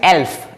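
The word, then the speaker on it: elf: एल्फ। एल्फ, एल्फ, एल्फ, एल और एफ यानी कि एल्फ, ठीक है।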